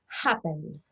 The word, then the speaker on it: happen: Happen, este es un verbo con dos sílabas. Happen, ¿ven? Happen. El acento tónico no está en la última sílaba, porque si no fuera happen, y no es happen, es happen. Lo mismo pasa con enter,